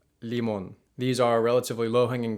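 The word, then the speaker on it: limón: or don't quite notice the pretty big difference in the way that for example teas and l's are pronounced in spanish versus english take tomato and tomate lemon and limon lemon limon these are relatively low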